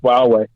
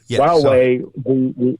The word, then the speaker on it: Huawei: And what happened with that, Huawei, which is actually pronounced Huawei, Huawei, the way the company was looked at was